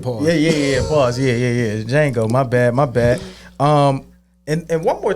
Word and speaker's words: Django: No, I think it was Django. Django. Yes. Yeah, because the D is silent. Pause. Yeah. Pause. Yeah. Django.